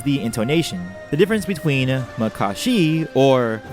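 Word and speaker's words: Makashi: intonation the difference between Mycoskie or maka she for me I go with the former splitting each syllable distinctly like mihashi or actually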